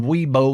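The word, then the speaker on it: Wibaux: from my friends in weebo Montana spelled ybox but really trust me you pronounce it weebo weeo Montana out here those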